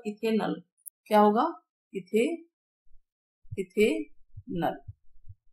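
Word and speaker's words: ethanal: यहाँ पे अल ए एल आता है लास्ट में, जो भी पढ़ेंगे तो उच्चारण ए एल आएगा, तो ये होगा इथेनल।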